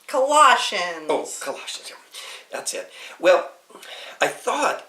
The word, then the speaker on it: Colossians: and finally we get to the book of collisions kawashima Colossians that's it well I thought it was a